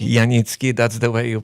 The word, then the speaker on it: Janicki: And today I have a special guest, and last name Yanitki. Yanitki, that's the way you pronounce it.